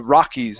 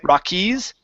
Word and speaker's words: Rockies: mountains big mountains the Rockies instead of saying Rockies with the stress at the end this is is a Rockies Rockies good so right onto